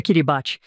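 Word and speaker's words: Kiribati: Parece ti, mas o ti é pronunciado como um s, então é queiribate.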